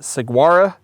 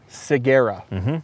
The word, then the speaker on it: Ciguera: belts and ride out the gate pronunciation i pronounce it saguaro seguera it is seguera okay seguera gear now why that's a little